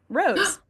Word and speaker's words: rosé: If you if you pronounce it the American way, that's rose wine. So, you know what? There you go. So, aka the correct way. It's rose wine.